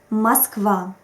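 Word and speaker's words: Москва: is called vowel reduction in russian we don't always pronounce in the way we write it it depends on the stress unfortunately there are no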